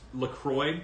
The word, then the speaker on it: LaCroix: Okay, so by the way, people who pronounce it LaCroix, I tip my cap to you. It's LaCroix.